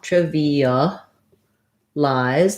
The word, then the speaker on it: trivialize: has first syllable stress the first letter i is the if sound like in did or trip um so triv then the next letter i is an e sound trevi this letter a is a schwa trivia lies the last letter i the e makes it say its name so it sounds like the diphthong i and then we have a z so looking at that